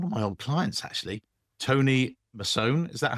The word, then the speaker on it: Tony Masone: And I'm delighted, thrilled to say I'm joined by one of my old clients, actually, Tony Mason.